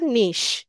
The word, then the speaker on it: niche: নিশ মানে হচ্ছে ক্যাটাগরি বা হচ্ছে এটার টপিকটা কি, বানানটা হচ্ছে NICHE। ঠিক আছে, নিশ, এটা দেখতে পাচ্ছেন তো, এই যে NICHE, এটাকে বলা হয় নিশ।